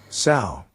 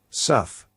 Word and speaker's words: sough: Sow or Suff. Sow or Suff. Sow or Suff. Sow or sough is your word of the day, and it means a